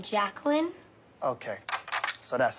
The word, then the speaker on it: Jacqueline: take a roll here Jay quellin we stay quellinet no Jay quella here yeah uh do you mean Jacqueline okay so that's how